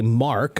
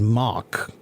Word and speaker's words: Mark: R sounds all sounded like an a sound not an R okay and so yeah my own name I didn't say Mark I said mock okay so I I had to learn how to say my name with this R sound and I had to go to a speech therapist to to learn okay so the things